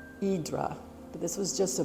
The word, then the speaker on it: Hydra: down below is Hydra the Hydra is how we say it but it's pronounced in Greek idra but this was just